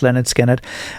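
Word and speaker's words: Lynyrd Skynyrd: Leonard Skinnard had just released or they were just about to release Leonard Skinnard, pronounced Leonard Skinnard.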